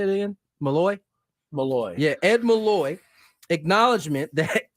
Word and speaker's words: Malloy: Malloy.